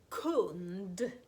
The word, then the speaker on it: kund: Nästa ord, en kund. Om jag handlar i en affär så är jag en kund. Kund uttalas hårt K därför att U är en hård vokal.